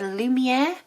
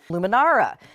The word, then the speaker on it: Luminara: I invested in, now I hope I pronounce it right, is it a Lumiere? Luminara.